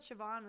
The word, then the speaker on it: Siobhan: Siobhan. It's S-I. Siobhan. It's SIOBHAN. Yeah. I thought Siobhan was CHEVONNE.